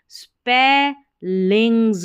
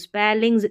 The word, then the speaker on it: spellings: Complicated जटिल मुश्किल complicated स्पे लिंग्स double L आई एन जी एस लिंग्स स्पेलिंग्स स्पीलिंग्स नहीं पढ़ना है स्पेलिंग्स क्योंकि इ को देखते ही इ उच्चारण आपको लगे कि हां स्पीलिंग्स पढ़ लें।